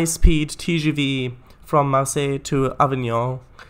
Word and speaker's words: Avignon: tgv from marseille to avignon i hope that's how it pronounced um in france without pronouncing the n at the end yes i just wanted